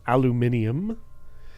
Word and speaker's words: aluminium: I do love the narrator's pronunciation of Alum aluminum aluminium I don't know if that's like a certain region says aluminium but I do enjoy